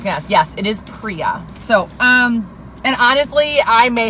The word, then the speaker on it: Priya: And we have a very beautiful lash that is called Priya, not Priya.